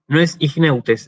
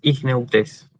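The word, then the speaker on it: ἰχνευτής: Perdón, no es igneutes, es igneutes. Ahí está. Me parecía que algo andaba mal con el acento. Igneutes, con acento en la eta.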